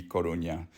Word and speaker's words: Coruña: Corona Road, I guarantee you they pronounce this Corona Road, and it's meant to be Coruña.